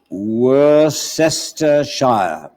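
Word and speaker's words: Worcestershire: as follows w-o-r-c-s-t e-r-s-h-i-r-e which should be spelled were sister shire the next word is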